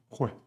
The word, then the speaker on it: juez: And you also have the sound G como Juan with the J. J followed by A, O, and U, like cirujana, Jose, and juez.